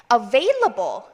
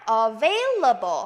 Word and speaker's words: available: available, available, available. V 발음 주의하시기 바랍니다. V 발음하실 때는요. F랑 비슷하게 입술 안쪽 깨무는데 F는 성대 움직이지 않습니다. 그런데 V는 V 하고 성대를 써주셔야 돼요. 한번 읽어볼까요? available.